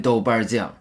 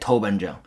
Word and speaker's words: doubanjiang: We call it doubanjiang. People from other culture might pronounce it like toubanjiang.